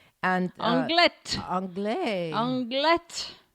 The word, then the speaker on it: Anglet: another small city called Anglet. And Anglet. Anglet. Anglet. You pronounce the T? You too. Oh, well, okay. I only know this because my daughter plays basketball and... they say Anglet.